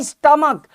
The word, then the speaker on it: stomach: का प्रोनाउंसिएशन क है, यहां स्टमक प्रोनाउंसिएशन क है, तो यहां पर उत्तर अलग होगा।